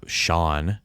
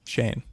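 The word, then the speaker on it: Xian: go see warlord uh Shawn Shane they pronounce it Shawn though and Shane yeah but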